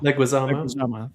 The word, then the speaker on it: Leguizamo: How do you pronounce his name? Leguizamo. Thank you. Leguizamo.